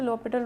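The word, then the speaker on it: L'Hôpital: ये जो स्पेलिंग होती है ना, इसमें ये एस नहीं होता, ठीक है, इसलिए से l'Hopital रूल बोलते हैं, और एच साइलेंट होता है।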